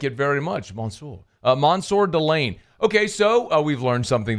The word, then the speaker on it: Mansoor Delane: what's the last name here I've heard it pronounced like four different ways Delan Delaney Delon how do we say it uh delay's